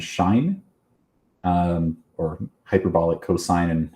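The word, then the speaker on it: sinh: So the hyperbolic functions, we pronounce these as kosh and shine um or hyperbolic cosine and hyperbolic sign.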